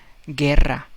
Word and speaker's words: guerra: who are these days so it's again this g e double r a so it's not guerra right you would say guerra but no it's guerra gera you silent again the rule says g-u-e the combination makes you silent and we've got that